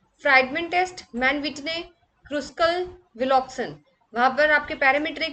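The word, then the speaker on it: Wilcoxon: Spelling wrong है, विल्सन नहीं विलॉक्सन, ठीक है।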